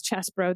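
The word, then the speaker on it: Chesebro: Sydney Powell Kenneth chesbro they're saying it's chess bro that's a dumb way to pronounce that I'm gonna keep saying cheese bro until I'm told otherwise uh and Jenna Ellis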